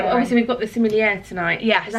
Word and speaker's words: sommelier: Yeah, well, obviously we've got the sommelier tonight. Yes. Is that how you say it? We do, yes, sommelier.